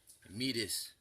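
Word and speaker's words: Métis: Canada see that T right there is actually pronounced addy it would be meatus an Indian the teaser DS northern Great Plain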